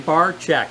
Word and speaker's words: Barczyk: have over here barchek said it right you got it tough spelling but easy pronunciation bar check yes exactly and he